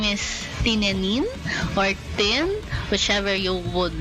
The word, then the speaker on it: Tinenin: I prefer if you call me Tinenin, you know how to read it, right? And it's Tin, and it's Tin, not Tine. but I'm okay if someone mispronounce it. But because you guys are here, I hope you guys remembered it's Tin.